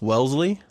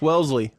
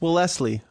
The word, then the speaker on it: Wellesley: ] English here well it's Wellesley Wellesley it's not Wellesley that's well Leslie well Leslie yeah I'm using words